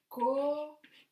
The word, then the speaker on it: coche: These two letters together make the sound che. For example, coche, car, coche, coche.